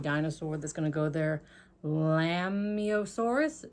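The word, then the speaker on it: Lambeosaurus: that's gonna go there lambiosaurus if the bee is silent like in lamb or lambio source if it's not i'm not sure but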